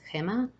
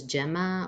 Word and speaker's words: Gemma: to me once again my name is in Spanish is pronounced Hema in English is Gemma or or nickname